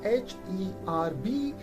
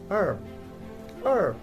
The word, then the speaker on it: herb: it is pronounced as er er so h is silent here even that in british accent we do pronounce here and we say herb but in american accent we say herb h is silent so another pair of